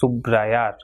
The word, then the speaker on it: subrayar: Now, the letter r is pronounced in a strong way at the beginning of a word, and when it comes after l, n, and sub.